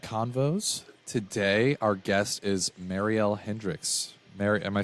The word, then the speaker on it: Mariel Hendricks: of Vet Clinic convos today our guest is Marielle Hendricks Mary am I saying that correctly congratulations okay